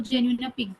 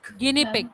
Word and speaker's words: guinea pig: और एक मैम क्या बोलते हैं इसको, genuine pig. Guinea pig. That is pronounced like guinea pig.